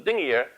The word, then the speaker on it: Dingir: We pronounce it Dingir when it means God, and you'll hear me say it several times this evening.